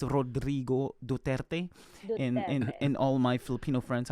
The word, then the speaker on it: Rodrigo Duterte: Okay, so since you were talking about Rodrigo Duterte, our president, I probably should pronounce his name right. It's Rodrigo Duterte.